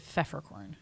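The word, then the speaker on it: Peffercorn: obsessed with Wendy peorn it's like pepper corn no it's like Feer it's like peppercorn yeah but it's PF so you you don't pronounce the p is it feffer corn what it looks like peppercorn but there's an F in there yeah um your last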